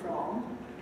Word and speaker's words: from: where do you come from there's the little word from at the end of the sentence which must be pronounced with a full vowel not the schwa but the answer of